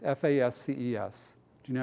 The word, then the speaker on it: fasces: It's F-A-S-C-E-S. Do you know how to pronounce that? Not feces, fasces.